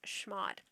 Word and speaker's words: chmod: you're going to use schmod now some people pronounce this with a hard ch type sound some people pronounce this with a soft sh type sound i've always heard it pronounced as shmod i have a demo